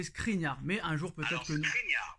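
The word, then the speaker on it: Škriniar: prononciation de ce crinière Nono n'arrive pas à mettre le S devant le K donc toujours pas c'est pas crinière c'est screenia mais un jour peut-être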